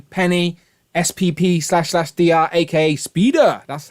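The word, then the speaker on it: SP//dr: to complete including penny spp slash dr aka speeder that's how you pronounce it proper um and also spider-man noir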